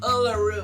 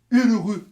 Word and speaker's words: Uluru: Ah, désolé pour ça, je ne veux pas vous contredire, mais ça se prononce Uluru. Ok? C'est juste vous prononcer. Guide Nika, c'est écrit Uluru. U-L-U-L-R-U. Uluru.